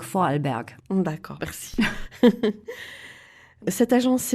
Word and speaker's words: Vorarlberg: de l'autriche le temps comment le prononce ton bon moi je peux le prononcé qu en allemand donc vorarlberg bon d'accord merci cette